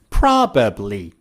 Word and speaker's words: probably: Native speakers remove the second B, and instead of probably, they say probably.